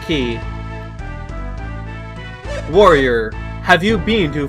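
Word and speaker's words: chi: But you have to realize she key c hi is pronounced key as in ki. They're literally the same thing.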